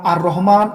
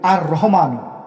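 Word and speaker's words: الرحمن: চলুন জেনে নেওয়া যাক সঠিক ভাবে উচ্চারণ করতে গেলে আপনাকে বলতে হবে আর রহমানু আর রাহিম অনেকে বলে আর রহমান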